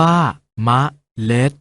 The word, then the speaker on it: เมล็ด: เสียง ว่า ขนน เอา เมล็ด ออก เสียง ว่า เมล็ด เรา มา ออก เสียง